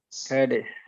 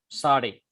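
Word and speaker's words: צדי: So actually it is difficult to pronounce because it gives TS sound. Tus, like TS sound in nuts. Nuts. Sade. Sade.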